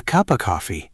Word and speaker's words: cup of coffee: The phrase cup of coffee, in fast English, of becomes a short uh sound. It sounds like a cup of coffee. A cup of coffee.